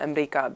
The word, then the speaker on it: Amreeka: And as I was writing the script, I kept thinking that the grandmother would call America Amreeka because that's the way that it's pronounced in formal Arabic.